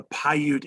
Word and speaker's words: Paiute: gentleman with the hat so welvoca is a paiute indian he's a paiute from nevada um paiute is spelled p-a-i-u-t-e paiute p-a-i-u-t-e he's a paiute indian